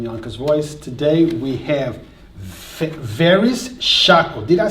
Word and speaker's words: Verris Shako: again guys from Yonkers voice today we have various chakra did I say it right you did thank